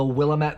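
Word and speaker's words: Willamette: halam is from the willat valley will yes I know I like to say mispronounce Willet to get people mad this is very good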